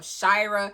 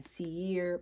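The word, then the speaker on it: Seare: The oath of the brotherhood, the song of Shyra. Back in the day I was saying sier but that's honey that's that's not how you say it is.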